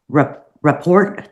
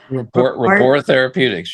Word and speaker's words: Rapport Therapeutics: Paul is also a founder and chairman of the board at Report. Did I pronounce that correctly? Rapport Therapeutics.